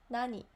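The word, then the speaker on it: なに: Nani, nani, nani. Okay, Let me write down as usual. Nani. Okay. Maybe I should make it a little bit bigger, right? Nani. So we pronounce it as nani, and this means what?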